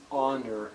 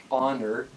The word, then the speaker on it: honor: there the word honor the H is silent in that word so we pronounce it honor without the H just learn this by